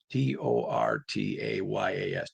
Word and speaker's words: tortillas: t o r t a y a s tortillas is how you pronounce tortillas.